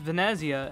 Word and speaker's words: Venezia: He's like, it's not Venice, it's Venezia. And why did they say Paris is Paris instead of Paris?